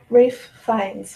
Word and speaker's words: Ralph Fiennes: Rafe Fiennes, phonetically.